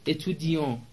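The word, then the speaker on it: étudiants: میشه نسوم اتیان نسوم اتودی اس خونده نمیشه صرفاً یک علامت جمع هستش جمله بعدی وزت اتیت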